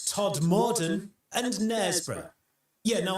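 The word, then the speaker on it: Knaresborough: not Todd Morton, and Nesbra. Yeah, no, I didn't think people mispronounced Nesbra either, but apparently one commenter said that someone had asked where Canazberg was.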